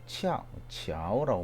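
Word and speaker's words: 巧: 치아오라고 발음하고 파고지 같은 경우에는 고정하는데 치아오하다, 공교하다, 효과가 끝내준다.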